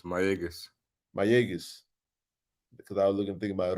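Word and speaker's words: Mayagüez: It's Mayaguez.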